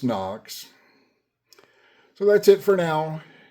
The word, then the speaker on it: HOKC: It's spelled H O K S C, but pronounced NOKS.